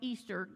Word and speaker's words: Ishtar: have had to enter the Ishtar kind of pronounced Easter Gates you can see it